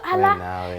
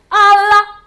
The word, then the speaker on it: Allah: It's not Allah. It's Allah. Allah. Say it like that.